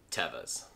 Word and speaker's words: Teva: they've always been and always will be called tevas this brand has the unfortunate tendency to be called a mushroom people pronounce it morel but it is actually pronounced